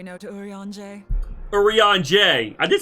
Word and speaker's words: Eorzea: Eorzea.